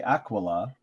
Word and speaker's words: Aquila: say akila and then he says it's okay if you say aquila i say akila also yeah and i think that comes from more of a latin you know yeah like pronunciation so i don't know